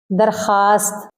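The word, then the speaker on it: درخواست: लेकिन हम इसको ऐसे नहीं पढ़ेंगे, हम पढ़ेंगे ख्वाब, दरखास्त। तो इसमें वाव जाहिर करके नहीं पढ़ा जाएगा, इसमें वाव साइलेंट है।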